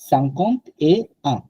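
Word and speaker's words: cinquante et un: Normally এক number যেটা হয় 51, 61, 71, ওই টাইমটাতে শুধু এ সাউন্ডটা আসে, এ সাংকন্ট 50 এ আ মানে 51, সাংকন্ট এ আ দ্যাট ইজ 50 and 1, 51 সাংকন্ট দো। এখানে কিন্তু এ সাউন্ডটা নাই, আর সাংকন্ট দো, সাংকন্ট কোয়া,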